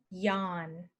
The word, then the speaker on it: yawn: looks like this Yan so to remember this one you could say she is yawning on the lawn she is yawning on